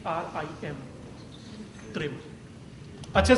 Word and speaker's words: त्रिम: right अच्छे से शवास खींच और त्रिम का उच्चारण करेंगे टी आर आई एम त्रिम अच्छे से शवास खींचें त्रिम त्रिम